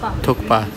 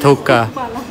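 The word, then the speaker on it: thukpa: थुक्पा बोलते हैं ना, थुक्पा। तो अभी प्रोनाउंसिएशन सीखी जा रही है, पहले पंजाबी स्टाइल में कुछ भी बोल सकते हैं थुक्का।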